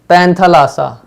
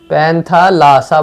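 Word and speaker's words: Panthalassa: क्या बोला इसको, उन्होंने इसको बोला पैंथालासा, ठीक है, PANTA, पैंथा, पैंथालासा बोल रहे थे इसको, ठीक है। मतलब पैन मतलब ऑल, थलासा मतलब ओशन, ओशन बोल रहे थे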